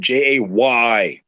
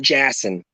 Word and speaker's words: Jayson: So you type in my name, Jayson, not Jason, Jayson, phonetically correct, Jayson. Why? Because there's a Y in it.